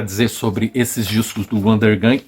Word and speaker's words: Undergang: Eu acho que é Undergang.